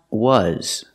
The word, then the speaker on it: was: that they say w the word is not pronounced w w it's pronounced was we're using the short sound like cup and up uh uh relaxed uh uh together was